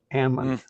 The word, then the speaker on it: almond: capital of the world do you notice how I pronounce that amen that's what the Almond Growers call it almonds they shook they